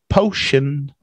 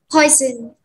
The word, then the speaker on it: poison: It's close, but it's not potion. Potion. Close. Poison. Poi. Oi, oi, ti, oi. Poison. Poison. Potion. Potion and poison. Yeah, a little bit different. Po, shin, and oi, poi, zun, different.